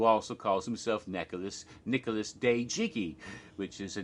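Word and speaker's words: Dejiki: pronouncing it incorrectly but now I know it's pronounced day Jiki it's spelled de ji ki and is run by a man named Nicolas Yao who also calls himself Nicolas Nicolas de jiggy which is a name he adopted for himself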